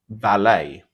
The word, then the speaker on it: valet: could argue that that the correct pronunciation is valet with the silent T.